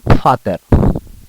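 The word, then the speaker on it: Vater: எழுத்தை ஃபவ் என்று கூறினேன் எப்பொழுதுமே ஜெர்மனில் வி என்ற ஆங்கில எழுத்து எப் அல்லது போன்ற அந்த ஃபௌவ் அந்த உச்சரிப்புடன் தான் வரும் ஆனால் ஃபாதர் அதேபோல்தான் இங்க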